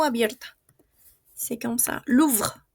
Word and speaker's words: Louvre: Louvre. Louvre. Y la E, que no tiene tilde, habíamos dicho siempre que no pronunciamos.